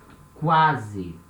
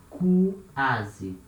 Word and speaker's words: quase: So here we have these two letters sounding separately. We say quase, quase, right? We pronounce the letter Q as a letter C, for example, or as a letter K, and we say the letter U as well.